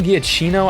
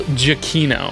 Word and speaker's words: Giacchino: I'm gonna butcher his name, but Michael Giacchino. I know that's wrong. Let me look up the actual pronunciation. Okay. I think it's Michael Giacchino.